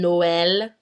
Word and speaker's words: Noël: Like in Noël, égoïste, each vowel gets its own separate sound.